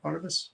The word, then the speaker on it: Barnabas: do that you know how do you say that name barnaba Sparta bus like C St Barnabas Hospital yeah part of us